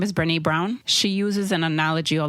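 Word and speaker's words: Brené Brown: think her name is Brene Brown. She uses an analogy all the time, like Okay. with her and her husband, and she'll say, "Did I say her name right?" Yeah. Yes, Brene Brown.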